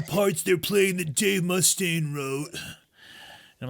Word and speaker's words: Mustaine: I like how you are pronouncing his name wrong. That really makes me laugh. Dave Mustaine? What is it? Dave Mustaine? I mean, it's mostly an emphasis situation. It's an emphasis.